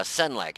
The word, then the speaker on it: Senlac: Yeah, Senlac.